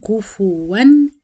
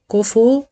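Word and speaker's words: كُفُوًا: كو كفو او كفوا من الاخطاء الشائعه في سوره الاخلاص ان دايما الناس بتنطق الفاء ساكنه كف و معناها فا ساكنه وهي عليها ضمه فلازم اتم الضم ام الشفايف واقول كفو كفوا احد ا هنلاحظ هنا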